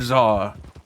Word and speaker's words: Czar: And some of them don't sound great, like Toad Czar. Even though Czar's spelt with T-Z, S-A-R, but it don't sound like a T.